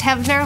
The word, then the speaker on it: Heavner: the first selectman's report my name is heavner it's pronounced heavner like heaven um I want working